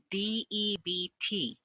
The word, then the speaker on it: debt: When the letters B, T are found at the end of the word, the B is silent. DEBT, D, E, D, D, T, that, that, that.